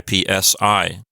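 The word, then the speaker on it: ipsī: dative singular we have Ipsy with a long I ipsi if this were just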